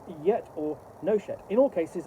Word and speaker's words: Nochet: yet, not yet, or Nochet. In all cases, a short O and a hard CH with equal emphasis on each one.